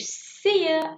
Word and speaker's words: see ya: Ojo, póngale, oído, pónganle mucha atención a la pronunciación de you, que no es you, sino que es como un poco más floja la vocal.